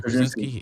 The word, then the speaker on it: Krasinski: Yeah, Krasinski.